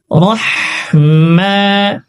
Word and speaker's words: রহিম: আল্লাহ আল্লাহ র আল্লাহ আল্লাহ রাহমা, মাতে এক সেকেন্ড পরিমাণ টানবো। আল্লাহ মা নির নির র উচ্চারণ এখানেও মোটা করবো। আল্লাহ মা নির রহিম, শেষে হা রয়েছে, গলায় চাপ দিব। রহিম রহিম পড়বো না, রহিম।